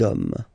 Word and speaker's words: hommes: You don't pronounce it, so you get des hommes, des hommes, des hommes.